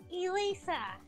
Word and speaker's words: Elisa: How do you pronounce your name? Elisa. So I did say it right. It is Elisa.